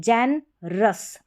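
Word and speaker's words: generous: में है, ठीक है, जैन, नी नहीं बोलेंगे, जैन, क्योंकि यहाँ पर ई एक तरीके से साइलेंट है, जैन रस, ROUS साथ में हो गया, अस के आर साथ में है तो रस, जैनरस।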